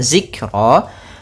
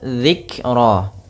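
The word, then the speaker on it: ذكرا: Kemudian dzikra, pada lafal dzikra di sini ada huruf dzal kecil, jangan sampai dibaca dengan zikra, tapi dia dzikra.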